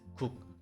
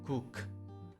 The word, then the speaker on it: 국: In Korean, it is read as 국, not guk.